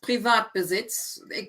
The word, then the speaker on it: Privatbesitz: It's very tempting to pronounce words in English when you recognize them. I always find they're often the worst words to read because you think, oh, I know that word, private.